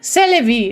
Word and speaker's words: C'est la vie: C'est la vie is the correct pronunciation.